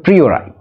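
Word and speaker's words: a priori: ইফ ওয়ান মে জাজ প্রি ওর আই এর উচ্চারণটা হবে প্রিরাই বাট ইফ ওয়ান মে জাজ যদি একজনকে জাজ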